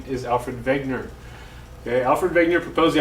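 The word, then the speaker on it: Wegener: of continental drift and yes it's alfred wegner not wagner you'll hear some people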